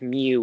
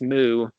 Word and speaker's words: Mu: it's well pronounced different instead of Mew its mu so mu and okay how is